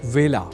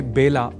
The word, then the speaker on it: वेला: ही चुके हैं कि व का कई बार ब के रूप में उच्चारण करना अशुद्ध होता है। अतः ए अक्षर से जुड़े वेला इस शब्द के उच्चारण में भी विशेष ध्यान रखा जाना चाहिए। अर्थात इसे बेला नहीं बोला जाना चाहिए।